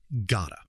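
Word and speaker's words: gotta: Number one, gota. This is got to compressed into one syllable.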